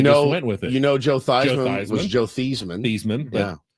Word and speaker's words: Theismann: He actually encouraged that because it sounded it like rhymed Heisman. like Heisman, and it was part of the Heisman campaign, and now he became Joe Theismann.